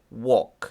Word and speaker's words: walk: Remember, the L is not pronounced. Okay, we say Walk. walk.